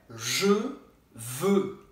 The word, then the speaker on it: Je veux: Je veux. Je veux. E como é que você vai pronunciar isso? Faz a boca do O e fala E.